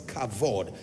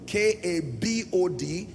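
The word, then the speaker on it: כבוד: a v o d and sometimes you find the V replaced with B so k a b o d pronounce kabod and then in other text you will find cavod in any case here's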